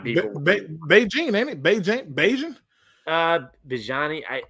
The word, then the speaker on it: Bijan: I think it's Beijing Robinson. I know Anthony knows who's coming in right now. Anthony, what is his name? Beijing Robinson? How you pronounce his name? Bijan.